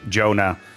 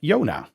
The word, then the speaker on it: Jonah: I I have the same thing with my name, Jonah. It's actually pronounced in English all the time for me. That's how I want my name to be pronounced and how my mom decided on as well in that sense. But obviously in Dutch it's called Yona and most people in the Netherlands default to Yona.